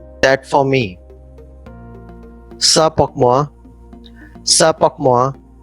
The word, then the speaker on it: ça: So C with the cedilla should be pronounced as ça.